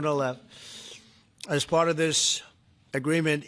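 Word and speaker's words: Gonal-f: all, the IVF drug Go-Nal-F. So it's Go-Nal-F. Is that a proper pronunciation? Very Close well enough, done. right? Very well done. Gonalev.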